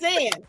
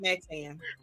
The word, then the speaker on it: Maxayn: Maxayn. There you go. Maxayn. You did it. Yes. There you go. I be trying to add extra syllables.